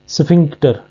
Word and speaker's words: sphincter: पीएच इसमें silent है। स्फिंग IN जो है वो इंक और CK की साउंड देता है, स्फिंक्टर।